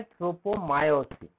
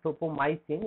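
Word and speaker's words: tropomyosin: सबसे पहले ट्रोपोमाइसिन की बात करते हैं, और मायोसिन, एग्जैक्ट प्रोनाउंसिएशन है ट्रोपोमायोसिन, इट नॉट ट्रोपोमाइसिन, इट इज ट्रोपोमायोसिन।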